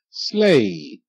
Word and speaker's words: slay: the right okay right slay SL a slay GH is silent you see the E I E I make the long a sound a like in day and hey okay um okay on